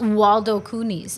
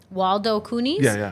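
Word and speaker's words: Waldo Cooney's: Waldo Coonis. So like Waldo. Like where's Waldo?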